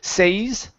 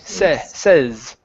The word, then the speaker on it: says: So instead of using a long a says, it's e says says.